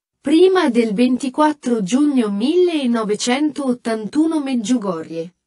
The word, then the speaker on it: Medjugorje: del 24 giugno 1981 Medjugorje che in croato significa tra i monti e si pronuncia Medjugorie è solo un minuscolo